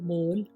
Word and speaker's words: mole: BONE bone यानी कि हड्डी, CONE कोन, शंकु, DOME डोम, गुंबद, HOLE होल, छेद, MOLE मोल, मस्सा, NOSE नोज, नाक, ROPE रोप, रस्सी, SOLE सोल, जूते का तला, ROSE रोज, गुलाब का फूल, कौन नहीं जानता।